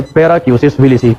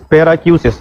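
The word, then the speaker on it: paracusis willisii: उस कंडीशन को कहते हैं पैराक्यूसिस विलिसी। उसका नाम क्या है, पैराक्यूसिस विलिसी। अगर किसी ने लिखना है, मैं स्पेलिंग बताता हूँ, PARACUSIS, PARACUSIS, पैराक्यूसिस।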